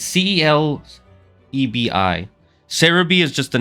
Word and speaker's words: Celebi: It's C-E-L-E-B-I. Cerebi is just the name of the website. I think it was based off of the Japanese pronunciation and then turning that into Romaji, which is Romanized.